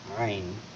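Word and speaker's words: عين: জ দেখ এটা হচ্ছে আইন আইনটাও ওই যে হা যেরকম গলা থেকে উচ্চারণ করতে হয়েছিল হা এটা উচ্চারণ করতে হবে আইন আইন অর্থাৎ গলা থেকে তাহলে ওইটাও উচ্চারণ হবে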